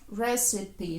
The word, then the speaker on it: recipe: Recipe. Зверніть увагу на читання. Рецепт читається recipe.